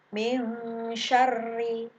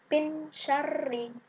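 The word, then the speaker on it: مِن شَرِّ: Min syarri, tidak boleh bin syarri, tapi dibaca samar.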